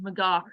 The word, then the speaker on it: McGough: it's spelled m-c-g-o-u-g-h yes I'm sure my ancestor said mcgar and then somewhere in America we started saying the yes with a little bit of a cough at the end of